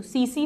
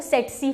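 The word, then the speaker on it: tsetse: इसमें T silent है तो सीसी फ्लाई, या पहला टी साइलेंट होता है तो सेटसी फ्लाई।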